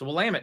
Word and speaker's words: Willamette: That's what I thought it was, but no, it's Willamette.